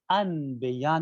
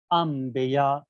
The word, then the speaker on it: انبیاء: میں تبدیل کریں گے۔ لہذا جو صحیح تلفظ ہے وہ انبیاء نہیں ہے بلکہ انبیاء، انبیاء، اور ہلکی سی نون کی آواز باقی رہے گی، یعنی غنے کے ساتھ ادا کرنا، انبیاء۔ یہ بات تھی